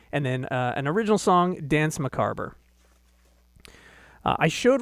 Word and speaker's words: Danse Macabre: I pronounced it wrong the first several times I said it. It's Danse Macabre. That is how Simon Le Bon sang it in the song.